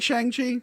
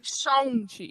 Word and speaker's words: Shang-Chi: It's pronounced Shang-Chi. Shang-Chi, that's right, Tony. The movie. You're going to get No. canceled for that one. No. Comic fans were calling him Shang for years, and I'm pretty sure there's old interviews where Kevin Feige pronounces it that way.